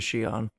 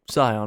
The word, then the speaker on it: Shion: Upon returning to Shion, or Sion depending how you want to pronounce this, makes her way to